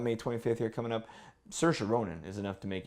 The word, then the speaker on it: Saoirse: 25th here coming up Saoirse Ronan is enough to make anybody go on film the insertion Saoirse rhymes with inertia that's how I learned I thought oh sure sure it's actually Saoirse sushi is it another Brooklyn